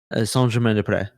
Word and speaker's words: Saint-Germain-des-Prés: It's in English you would think it would be Saint Germain des Prés if you take out the S's out of de and pré.